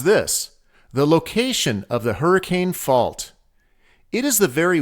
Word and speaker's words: Hurricane: George area the name hurricane is actually pronounced hurricane let me explain a